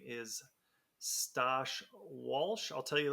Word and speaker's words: Stosh: get us started yeah my favorite one is the one that I get in the mail sash so r instead of t and they're like sash we have a special